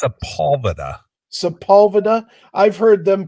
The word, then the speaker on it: Sepulveda: And you've heard Sepultura called that as well, haven't you? Oh yeah, absolutely. People are just dumb. Just look at the name and sound it out the way it's spelled.